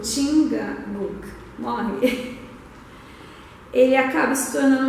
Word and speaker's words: Chingachgook: Então, eu já fiz difícil isso porque é Chingachgook, tá? Eu chequei a pronúncia e isso, mas eu tenho que ler, porque...